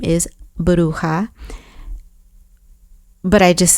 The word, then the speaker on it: Bruja: But the correct pronunciation of the name is Bruja, but I just said Bruja.